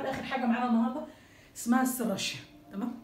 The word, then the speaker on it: Serratia: طيب تعالوا لاخر حاجه معانا النهارده اسمها السراشيا، تمام. الناس بتقول عليها سراتيا، بس هي ايه يعني الاصح ان هي سراشيا، وزي ما قلت